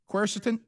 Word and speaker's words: quercetin: know about this how you say it helms quercetin quercetin right yeah i got that right yeah